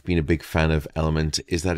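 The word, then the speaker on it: LMNT: of today's podcast is element uh and that's spelled l m n t now element is a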